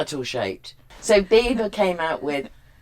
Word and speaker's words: Biba: But it's spelled differently. It's Biba.